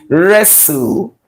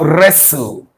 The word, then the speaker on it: wrestle: sound is not there this T here is silent is silent so we have wrestle therefore the consonant combination